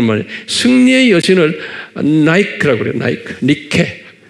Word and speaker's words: Nike: 니케. Nike. 그걸 우리 발로 하면 니케예요. 그런데 영어로 발음하면 나이키.